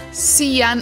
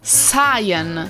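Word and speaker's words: Cyan: pensano che si pronunci siano altre Channel in realtà in italiano sarebbe Ciano ma in inglese si pronuncia Sayan Se andate su Google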